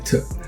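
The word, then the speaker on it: Tet: tough all right and the spell is t-e-t sounds like it could be pronounced Tech but it's actually tip and um you can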